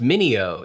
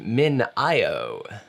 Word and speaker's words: MinIO: today i learned that it is not pronounced mineo it's pronounced min io which makes sense i like mineo though min